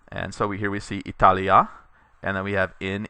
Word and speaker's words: Italia: this note is that Italia by itself is a short a ending, Italy, and when you add in the preposition with it, you get a long a, in Italia.